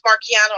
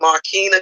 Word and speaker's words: Marquina: miss uh hope melissa you're cracking me up pronouncing my name the way it's really spelled it's actually marquina down there but if you would see the proper spelling you would pronounce it that way so you just cracked